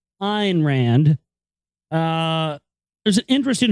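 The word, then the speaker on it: Ayn Rand: IR Rand I'm sorry let me say it correctly not an Rand iron Rand uh there's an interest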